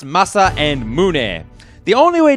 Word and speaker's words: Masa: mind they are pronounced masa and muninn the only way to be certain of this pronunciation is to know that the most famous swordsmith in the history of japan was a dude named Masamune he lived a long